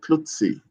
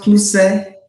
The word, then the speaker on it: Klutse: how do you pronounce your surname? Is it Klutsi? It's pronounced Kluse.